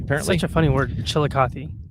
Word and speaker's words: Chillicothe: Apparently, such a funny word, Chillicothe. I think that's how you pronounce it. That's how I've heard it pronounced. So Chillicothe.